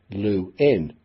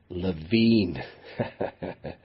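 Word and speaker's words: Lewin: moving to America luin began asking people to pronounce his name as luin rather than LaVine because the misspelling it was said of his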